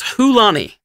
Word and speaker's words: Chulane: is Gitrog, Corvold, and Chulane, or Hullen, if Morgan's going to make me say it correctly. The correct pronunciation is Hulani. Yeah. Okay, thanks. I'll keep saying Chulane, okay?